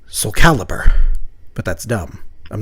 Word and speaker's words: Soulcalibur: game Soul Cal caliber intending it to be a portmanto of soul and xcaliber so I guess if you're pronouncing it correctly it's like Soulcalibur but that's dumb I'm